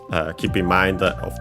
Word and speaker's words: を: Then we have again sette, so all sound settings, the setting of the sound, literally. Then we have the object particle o, written as wo and pronounced as such in careful speech and also singing.